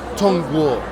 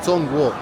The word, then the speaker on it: Zhongguo: China se llama Tongw. que se escribe c h o n g u o tongo y un chino se